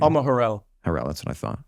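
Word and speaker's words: Har'el: Alma Harrell.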